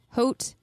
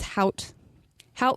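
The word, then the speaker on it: Hout Bay: my home valley of how help bay different variations on how to pronounce it Africans is haut but generally it is how help means wood after the forest that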